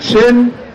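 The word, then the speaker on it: Tchin: needed it on H my name is chin it's spelled TCH n I'm an narraganset native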